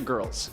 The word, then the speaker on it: Grrrls: On top of his odd singing career, Johnny leads a little gang known as the Geisha Girls. That's spelled Grrrls, like girls.